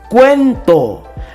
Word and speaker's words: cuento: cuenta te das cuenta que en el cuento la mayor fuerza de voz está aquí en la e por eso se ve